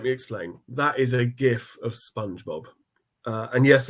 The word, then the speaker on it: GIF: yes I said GIF not GIF I'm sure there's some people in the comments that might point out that's incorrect but given this is my presentation I'm just going to state that it's factually pronounced gif secondly that gift clearly